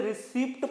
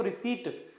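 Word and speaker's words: receipt: बारे में पढ़ते हैं स्टूडेंट्स ज्यादातर इसे रिसिप्ट पढ़ते हैं जबकि इसमें पी क्या होता है साइलेंट होता है इसलिए इसे पढ़ेंगे हम रिसिप्ट तो रिसीवड किसे कहा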